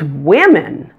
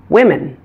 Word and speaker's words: women: really strange word is women the O in this word is actually pronounced as a short I women let's talk now about